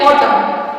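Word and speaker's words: autumn: ए silent होता है अगर ए के पहले एम आ जाए तो ए जो है वो साइलेंट होगा ए ए के पहले एम आएगा जैसे ए यू टी यू एम एन और टम इसको हम ऑटम नहीं पढ़ेंगे इसको हम पढ़ेंगे ऑटम दूसरा है सी ओ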